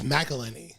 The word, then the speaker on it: McElhenney: it is because it's Oh, MC you then say it, then a vowel. It's McElhenney. Oh, I thought you meant they have to put an A No, in between no.